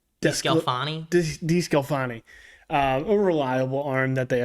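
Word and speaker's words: DeSclafani: Defense Clancy? DeScalfani? DeScalfani.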